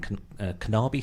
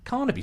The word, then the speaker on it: Carnaby: So he gave them his his uh offices are in Canabi Street. Canabi Street. Canabi Street. I've forgotten how to say it. Carnaby Street.